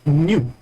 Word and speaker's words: GNU: También se puede decir como New Linux, porque la pronunciación correcta de GNU es New.